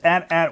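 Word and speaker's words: AT-AT: company that made this at at Walker or atat Walker however you want to pronounce it there's varying opinions on the right way I prefer to say atat Walker because that is an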